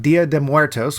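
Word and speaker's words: Día de Muertos: a Talon contest on Dia de moertos which is apparently the correct way to say it you leave out the Los but whatever the uh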